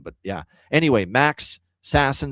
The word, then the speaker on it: Sasson: that Vancouver Philly game was saying Max Sasson, it's probably because he wants it to be called that way. Um, so I'm assuming that's a name pronunciation change for him.